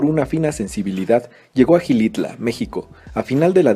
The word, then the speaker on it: Xilitla: Ya nos enseñaron que no se dice Xilitla, ni Xilitla, ni nada. Xilitla.